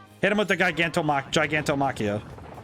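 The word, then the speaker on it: Gigantomachia: him with the gargantom gigantom machia giganto machia really avoiding the soft G sound I really need to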